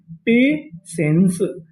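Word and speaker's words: patience: पेशेंस।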